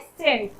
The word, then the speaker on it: cent: CENT को हम लोग उच्चारण करते हैं सेंट, पर यदि हम लोग CANT, तब ये इसका साउंड क्या हो जाता है?